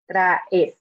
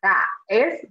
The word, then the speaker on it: traes: the A and E, traes. So make sure you're pronouncing them kind of separately, but it doesn't have to be like super separate, like traes, but just to make sure that the letters sound distinct.